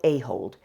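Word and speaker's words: Ahold: Shop is owned by Royal a-hold a-h-o-l-d so I'm saying it right what they really are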